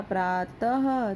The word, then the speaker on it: प्रातः: अब यहाँ पे प्रातः में भी 2 बिंदी लगी हुई, तो इसका जो उच्चारण होगा वो कैसे होगा, प्रातः, तो ये ह की तरह।